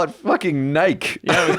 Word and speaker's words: Nike: guys call Nike?